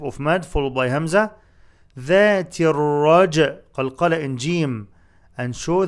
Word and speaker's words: ذات الرجع: ذاتر ألف and لام are not pronounced. ذاتر تر تاء followed by راء in pronunciation.